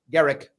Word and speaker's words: Gericke: c-a-r-l-a for Carla and it's pronounced Garrick but it is spelled g-e-r-i-c-k-e and also please follow